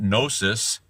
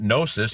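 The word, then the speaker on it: gnosis: o is in there the g is silent just like P is in silent in Numa um but that nosis you add a o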